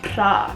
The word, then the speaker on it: pra: Pra. When you say this, you have to roll your R's. If you can't roll your R's, you might as well just never say this word.